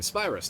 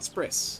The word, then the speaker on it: Spyrus: And yes, I realize I've been mispronouncing that the whole time. Spyus, not sprris.